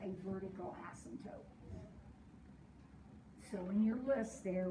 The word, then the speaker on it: asymptote: approaches but doesn't intersect when we pronounce the word asymptote we do not say the p it's not an asset it's an asymptote it's that one's that